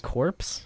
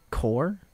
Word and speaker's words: Corps: Corpse? Story Corps, like corporation. You mean core? No. Wait. Corps. No. You don't... I don't think you pronounce the P in that.